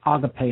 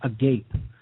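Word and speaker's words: ἀγάπη: And I wrote it there with an accent, an acute accent over the E, so you know it is pronounced agape and not agape.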